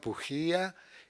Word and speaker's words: Pujía: se pronuncia su apellido se pronuncia en castellano pujía en italiano como la J es la ilunga se pronunciaría Pía el allí Me lo me lo hacen los amigos acá porque piensa que suena más a italiano en cambio pujía suena como más a cómo decirte a español no por Mejía en